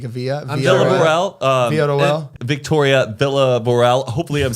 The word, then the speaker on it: Villarroel: I always say like Villarroel, but it's not. Villarroel. Villarroel. I thought it was like Villa was Via because it's like a Via. Villarroel.